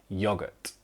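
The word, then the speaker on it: yoghurt: But in Britain, we spell it with an H and we pronounce it still yogurt.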